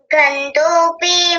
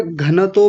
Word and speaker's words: घ्नतो: हाँ ठीक है, देखिए यहाँ देखिए स्क्रीन पर, यहाँ पर घनतो भी नहीं लिखा हुआ, आप घ को पूरा बोल रहे हैं। कैसे बोलेंगे? घ्नतो, घ आधा है, न पूरा है, घ्नतो बोलिए।